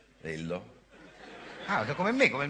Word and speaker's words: Lhyrhlo: Lillo Come'è scritto scusa hai scritto l h Y r h l o 13 e si pronuncia Lillo Ah come me come